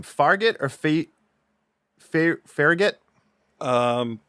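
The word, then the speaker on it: Fargeat: she's incredible in this so it looks like farget or fargate I know it's not spelled like gate but farget G farget we go with farget G um Coral I directed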